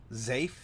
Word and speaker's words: Zafe: Bobicus pronounces it as Zafe. Zafe. Very, very breathy, Zafe.